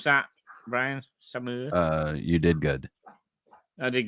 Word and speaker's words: Saumur: Can you pronounce that, Brian? Saumur.